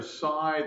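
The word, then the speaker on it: psi: is the Greek letter side the P is silent so if f of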